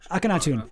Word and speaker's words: Akhenaten: Sorry, somebody told me how to pronounce it. Who said that? Oh, geez. Akhenaten.